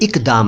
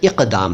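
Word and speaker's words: اقدام: my Hindi my Urdu इक दम यह इक दम नहीं है इक दम है क क क बोलिए साफ बोलिए इक दम इक दम अरबी से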